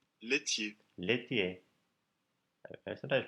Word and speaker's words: laitier: So he's in charge of the section on milk products, laitier. Laitier. Laitier. I sometimes pronounce that laitier, but it's laitier.